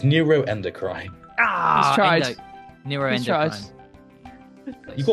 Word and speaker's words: neuroendocrine: know what we'll give it to you it's neuroendocrine ah neuro endocine you got all the right